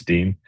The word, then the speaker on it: Dene: You'd be surprised how many people mispronounce Dean.